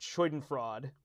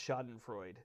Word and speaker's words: Schadenfreude: And then he has what I think is just an amazing card, Schadenfreude. Oh my gosh, it's Schadenfreude. I did the same thing on the other stream. I pronounced it incorrectly.